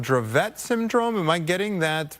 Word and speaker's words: Dravet: time, I am told it's called it's called Dravet Syndrome. Am I getting that pronunciation correct? Well, it can be in in the US, Dravet is how it's pronounced it, but it is pronounced differently in different countries.